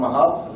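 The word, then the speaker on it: Mahout: comes to machine learning think about mahut or mahat depends how you pronounce when you come to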